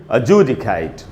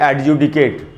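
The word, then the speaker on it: adjudicate: तो ये देखिए मैंने अंडरलाइन किया उसको, तो यानी इसको हम पढ़ेंगे अजूडिकेट, अजूडिकेट, न कि एडजुडिकेट, अजूडिकेट।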